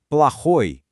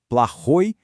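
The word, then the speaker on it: плохой: E o oposto mal é plahoi. Aqui a gente já vê a outra regra. A sílaba tônica tá no final playoi.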